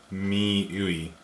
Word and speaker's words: MIUI: The right way to pronounce it. I've been going back and forth with a bunch of readers. It's MIUI. And then some people are like, MIUI or something, and then some people are like